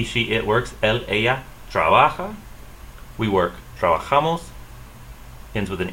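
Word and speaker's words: trabajamos: ends with an s so you're going to stress the next to the last syllable trabajamas trabajamas let's break down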